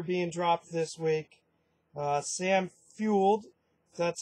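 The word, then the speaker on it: Fuld: saw ryan dempster being dropped this week Sam fuelled that's how you pronounce it was dropped but added today by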